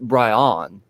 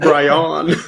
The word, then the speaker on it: Brian: conversation so um uh yeah my name's actually pronounced bryon just so you know bryon yeah yeah i've been saying it wrong this